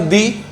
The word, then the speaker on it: the: तो article द बोलते हैं तब भी सही है, दी बोलते हैं तब भी सही है।